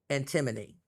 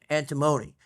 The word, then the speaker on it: antimony: Now, I know it's easy to pronounce it, and I want to say antimony, okay? Antimony, it's still, people would know what you're saying, and it's probably still pronounced by some people that way. Correct pronunciation is antimony, but what it is